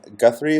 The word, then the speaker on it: Guthrie: if this is correct but uh the congressman Guthrie is how you pronounce his last name that's right um ran